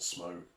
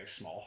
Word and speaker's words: Smough: Oh, have you heard people say Smough? It really upsets me.